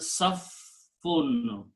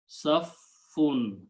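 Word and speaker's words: صف: Safun. Okay. Two fas here, so there had be shadda. In Urdu, we just say saf. We don't pronounce the second fa, but the actual word is saf or safun.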